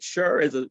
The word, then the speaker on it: Scher: Is it Scher? Is that how you pronounce it? Well, actually, it's more like Sonny and Cher for anyone that would remember or remembers the singer.